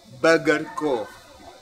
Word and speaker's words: BRGR.CO: cook their hot dogs oh yeah they're called burger cool yeah that's how it's spelt vrdr I think it's supposed to be